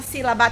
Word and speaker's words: sílaba: Olha aqui a força. Sílaba. O si, ele é falado com mais intensidade.